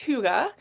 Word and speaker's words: hygge: emerging back in Spring time but um it's pronounced Huga and it is uh primarily a big part